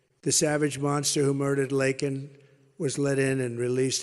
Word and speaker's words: Laken: And after months of prodding him, Biden couldn't pronounce her name. He said Lincoln Riley, and Lincoln Riley is the football coach, or the coach. And this was in Congress, couldn't even get the name right.